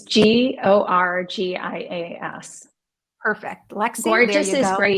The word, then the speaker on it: Gorgias: She wanted to know if the gorgeous, uh, customer management system was spelled gorgeous like you look gorgeous, or if it's spelled Gorgias. Yes, it's Gorgias.